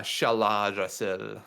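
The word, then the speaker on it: Shaladrassil: How do you pronounce it? I don't remember the Oh, it's Shaladrasil.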